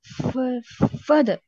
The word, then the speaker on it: further: further. further. அவ்வளவுதான். இந்த ஆரும் silent, இந்த ஆரும் சைலண்ட்.